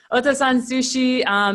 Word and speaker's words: Otosan Sushi: But is it Otosan Sushi? That's perfect. Yes. Yes. Okay. Otosan Sushi.